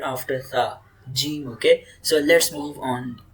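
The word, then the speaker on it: جيم: Okay, when middle tongue touches roof of the mouth, so Jim will produce. Okay, Jim. Say Jim. Jim. Jim. Jim. Yes. Okay. So Jim is light and most dialects smooth sound like J.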